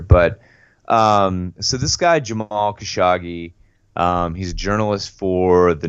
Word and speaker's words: Khashoggi: It is Khashoggi.